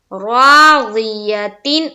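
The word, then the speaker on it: راضية: ज़ी, या जबर या, ता दो जेर तीन, राज़ियतिन, और आयत करेंगे तो राज़िया, फहुआ फी ईशतिर राज़िया।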